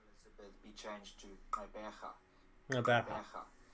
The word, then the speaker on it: Gqeberha: It's kind of like Rebecca. Gqeberha. Okay, it's straightforward actually. You're not saying it right, but sure. It's a good analogue for a non-native speaker. Oh. Rebecca. Gqeberha. No, you've got to go the ha at the end.